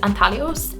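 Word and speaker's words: Anthelios: I think it's pronounced Anthalios, but I'm not sure.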